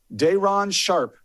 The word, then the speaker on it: Day'Ron Sharpe: And how do you pronounce his name? Day'Ron Sharpe.